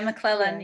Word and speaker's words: McLellan: Am I correct in pronouncing it? Yeah, McLellan, Yeah, yeah.